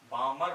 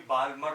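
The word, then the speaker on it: Balmer: आप लोग सबसे ना, बोलने में एल साइलेंट रहता है, बामर बोलते हैं BAMER बामर, एल साइलेंट रहता है इसके अंदर बोलने में। कभी बालमर बोल दो, कोई बालमर नहीं, बामर, एल साइलेंट, ठीक है।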